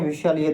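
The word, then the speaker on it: whistle: को क्या बोलते हैं विलय तो आपको पता होगा डब्लू एच आई एस टी एल विल होता है ठीक है इस टी साइलेंट होता है नेक्स्ट है आर्म्स आर्म्स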